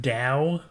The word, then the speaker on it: DAW: It's pronounced DAW. No, it's not. It is. It's a DAW. It's a DAW. DAW. D-A-W, DAW. Yeah, DAW. No, because that would be D-O-W.